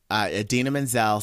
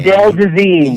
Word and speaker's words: Idina Menzel: So, do you remember when Idina Menzel sang "Let It Go" on the Oscars a few years ago, and John Travolta totally like mispronounced her name. Adele Dazeem.